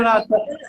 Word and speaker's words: Natan: Vamos pro Natan. É Natan ou Nathan? Eu nunca sei a pronúncia. É Natan mesmo.